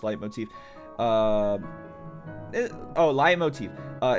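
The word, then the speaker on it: leitmotif: I just know fun trivia learn from someone trying to sniff out characters leave motifs. Pronounced light motif.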